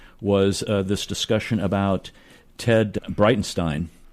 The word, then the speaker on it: Breitenstein: I think about what I opened the show up with was this discussion about Ted Breitenstein. Did I pronounce that correctly? Yes.